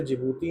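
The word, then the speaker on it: Djibouti: ओ यू टी आई इसको डी को pronounce नहीं करते बोलते जिबूती हैं बट लिखते डी जिजीबूती हैं।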